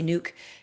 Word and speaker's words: nuc: Some people pronounce it nook. I say nuke because I say nucleus.